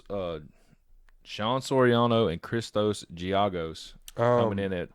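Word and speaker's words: Giagos: um but anyways uh chicanos is that how you say it chicanos i say giago's like argos yeah like giago's three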